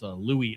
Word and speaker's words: Louis: Louis Armstrong, legendary jazz trumpet and singer. Louis Armstrong. Okay. The S is actually silent in his name. It's Louis Armstrong.